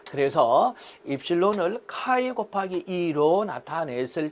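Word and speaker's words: χ: 자, 특히 여기 입실론 제로 곱하기 입실론 S-1을 카이로 나타낸다. 풍극율을 나타내죠. 풍극율. 자, 카이라고 발음을 합니다.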